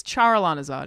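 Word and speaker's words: Charalanahzard: It's Charalanazard. It's Alanah in the middle of the word Charizard.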